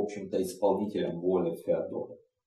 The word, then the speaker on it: Феодора: Но он не отличался большими способностями и был, в общем-то, исполнителем воли Феодора. Или Феодора, как ударение ставить.